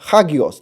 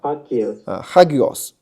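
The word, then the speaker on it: ἅγιος: 了哈，啊，hagios，它的这个重音在前面，看到没有？啊，hagios 就是圣洁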